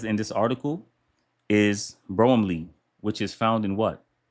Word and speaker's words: bromelain: Will break it down so it can help with um ingestion cuz one of the properties that by bro I'm sorry, bromelain bromelain My pronunciation's all messed up.